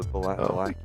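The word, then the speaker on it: Vallaki: Yeah, in this timeline they pronounced it correctly. It's the Valaki Civil War.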